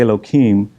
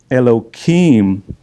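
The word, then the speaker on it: אלהים: I'm going to say Elohim, but it's the proper pronunciation. You put an H in there or a hey, and it's instead of the K. So Elohim, he heard that everything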